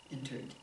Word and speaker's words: entered: And I'm kind of pronouncing it, what do I say, strongly, because I want you to hear it, entered. I don't want you to pronounce entered or entered, and no T sound. It's a D, because it ends in the R.